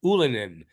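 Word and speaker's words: Ylönen: Suzuki Caufield with yesi ulanin on the apparently that's the right way to pronounce it oolinen from from ulanin's own mouth and if I'm saying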